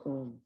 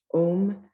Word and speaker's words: Om: The first letter, A, is the root sound, the key, pronounced without touching any part of the tongue or palate. M represents the last sound in the series being produced by the closed lips.